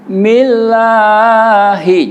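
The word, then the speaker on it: بِسْمِ اللَّهِ: Millahi ya. Millahi, jangan millahi ya. Betul, millahi betul, tapi tidak indah.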